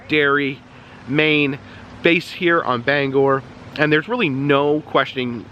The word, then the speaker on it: Bangor: I was corrected yesterday people say it's Bangor which is ironic because Stephen King known to be a little gory so Bangor is fitting so um Bangor is